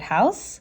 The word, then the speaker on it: house: Okay, and if you do want to learn how to spell the word house, okay, it's H-O-U-S-E. The E is silent.